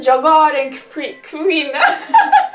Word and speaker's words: jag är: knows how it's pronounced jogaar and free queen say it you're getting okay so yoga sounds like yogurt and vina i eat